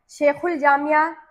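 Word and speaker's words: شیخ الجامعہ: जब वैसे फिलहाल बिल्कुल बिल अमूम वो सारे आसान थे इसके मुकाबले में जिसमें अलिफ और लाम दोनों साइलेंट है। शेखुल शेख उल जामिया। ठीक है? शेखुल जामिया आप सब ने ध्यान से देख लेना है।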